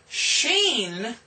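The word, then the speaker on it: Shin: Sheen.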